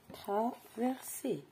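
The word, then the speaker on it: traversaient: t traversé attention ici je ne prononce pas le en à la fin du verbe traverser on dit travers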